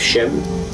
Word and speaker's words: Shem: The name of Shem, or Sem, sometimes spelled, but Shem or Shemitic, in fact, was a term that was a spelling that was used up to for a while. Shem is spelled as in S-H-E-M. Sem is S-E-M.